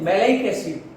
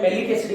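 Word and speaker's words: malic acid: है जिसका नाम है मैलेइक एसिड। क्या नाम है? मैलेइक एसिड। इसका प्रोनाउंसिएशन कई बार इंग्लिश मीडियम में स्टूडेंट मैलिक एसिड कर देते हैं, लेकिन याद होना चाहिए इसका प्रॉपर प्रोनाउंसिएशन है मैलेइक एसिड।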